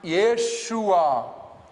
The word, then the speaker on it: Yeshua: And Yeshua, yeah, with the yod, then with the 2 dots, you know, it is a, ye. Shu with the shin, and again with wow, a dot inside.